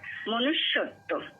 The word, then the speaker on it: মনুষ্যত্ব: তো জফলা থাকার জন্য এখানে মনুষ্য, এই এখানে জোর হবে মনুষ্য, তারপরে তয় বয়, মনুষ্যত্ব, এভাবেই আমরা উচ্চারণ করি।